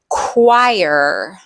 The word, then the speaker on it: choir: sometimes CH sounds like a k chemistry choir or chorus chaos architect High